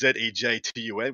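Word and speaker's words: Żejtun: But anyway, it's pronounced Zejtun, which is Zetun, I believe.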